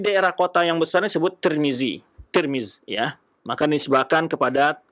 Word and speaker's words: Tirmidzi: dan kemudian Tirmidzi ya tirmiz itu berbeda-beda cara baca ada yang baca tirmiz dengan baris di bawah tanya ada yangis tarmiz tarmizzi tirmizzi atau turmuz tapi yang masyhur dibaca adalah tirmiz ya ini akan kita